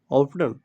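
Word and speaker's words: often: इसको कहीं-क पे देखिए अमेरिकन लैंग्वेज में ऑफन पढ़ते हैं। ऑफटन ऑफटन। ओके? और इसको ब्रिटिश इंग्लिश के तहत क्या पढ़ा जाता है? ऑफन यहां पे टी साइलेंट होता है।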